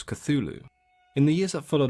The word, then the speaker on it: Cthulhu: up a furball so the pronunciation that is widely accepted and used today is of course cthulhu in the years that